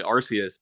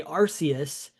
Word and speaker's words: Arceus: old in the old Pokemon movie, I think they say Arceus, and then in the new special that's on Netflix that came out around the time Legends Arceus came out, Right. they say Arceus. And then I think at one point I know the Pokemon social media was like tweeting out pronunciations of Oh yeah. things. And I think it was Arceus, yeah.